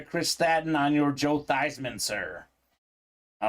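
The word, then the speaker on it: Theismann: Super Bowl champion and his name was actually pronounced Joe these men uh Folks at Notre Dame said let's change your name to be Theisman so we can say Theisman for the Heisman came up a little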